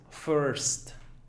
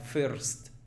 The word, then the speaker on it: first: Muchos dirían first, first. El estudiante básico diría first. El estudiante un poquito más avanzado quizás diría first, first. Fíjate, first. Ya pronuncia la R más como se debe ser, pero todavía el sonido sería como de I y no es I, sino es un sonido vocálico que es en inglés.